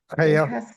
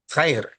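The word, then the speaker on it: خير: Khayr, if you want to spell it that way, Khair. Khair. Get used to saying that. That's good. So that tells you right there that the kha sound doesn't necessarily mean something bad.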